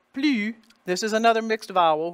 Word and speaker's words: plus: fun French U sound, the P and the L, just like they are, plu, and then U, the S is silent, plu.